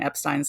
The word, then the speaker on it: Epstein: of last name I found it easy to remember the proper pronunciation if you do a little song Association in this case Turn The Beatles I'm Me Mine into my my name's up Stein okay little background if